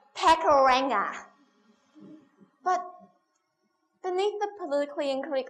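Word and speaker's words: Pakuranga: And the first thing I learned was, no, it's not pronounced Pakaranga, it's Pakaranga.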